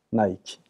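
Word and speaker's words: Nike: 나이키. 그리스 신화에 나오는 이 나이키 여신, 승리의 화신이었죠. 원 발음은 니케이지요.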